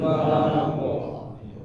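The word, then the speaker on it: فلق: Qul a'udzu birabbil falaq. Falaq. Lagi, qul a'udzu birabbil falaq. Qul a'udzu birabbil falaq. Ya, jangan terlalu lama-lama ya. Falaq. Panjang, maksudnya dipanjangin. Falaq. Setengah harokat. Falaq. Ya, setengah harokat aja.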